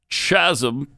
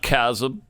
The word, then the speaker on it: chasm: i'm better than you i know how it's really supposed to be pronounced chasm not chasm uh all right so